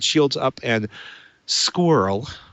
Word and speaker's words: SQRL: right shields up and squirrel which I like saying that's sqrl if you don't like acronyms or acronyms pronounce his words but record the show